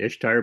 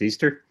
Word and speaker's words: Ishtar: Inanna is also known I've always pronounced it Ishtar, but apparently it's pronounced Easter.